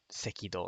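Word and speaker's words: 赤道: Although I often do forget sekido, like equator. I forget that that's the pronunciation.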